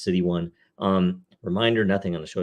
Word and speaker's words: 0xc1: Again, it's pronounced City 1.